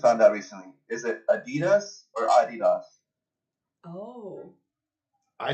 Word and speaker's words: Adidas: like an XO of adidos was pronouncing it adidos and we're looking at each other like have we been saying Adidas this whole time it's Adidas it's Adidas Adidas like that's the American way Adidas but now with